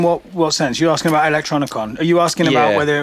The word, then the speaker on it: Electronicon: You're asking about Electronicon. Are you asking about whether it was the which biggest I mispronounced at the start of the show? Electricon.